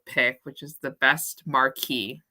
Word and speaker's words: Marquess: which is the best Marquee I think that's how you say marquis armor Quest I say marquis just because that's how the British say it but okay and then